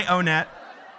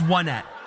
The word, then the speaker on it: Onett: I pronounce this Onett. Why? Because the next town is called Twoson, and then it's the third town is Threed, and then it's Fourside. So I'm like, oh, they're like numbers.